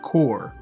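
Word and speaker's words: Corps: the Sega Genesis, and yes, it's pronounced Core, and Rocket Knight Adventures also for the Sega Genesis.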